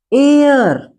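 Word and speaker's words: heir: एयर इसे एयर का मतलब उत्तराधिकारी या जिसे वारिस भी कहते हैं।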